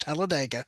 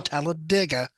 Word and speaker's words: Talladega: It is not pronounced Talladega. It is pronounced Oh, Talladega by mm, people who live in Talladega.